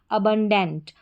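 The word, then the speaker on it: abundant: Next देखेंगे, spelling के last में हमारा कोड है ANT, इसको एंट पढ़ेंगे। स्पेलिंग देखें, ए को अ पढ़ा, BUN, इसको बन पढ़ेंगे, बन। फिर है DANT, डेंट, अबंडेंट।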